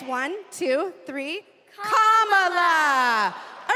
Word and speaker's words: Kamala: First, you say comma like a comma sentence. Then you say la like la. Put it together and it's one, two, three, comma.